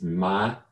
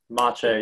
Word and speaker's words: Maciej: It's Maciej. Maciej, yep. Like macho with a long A at the end, Maciej.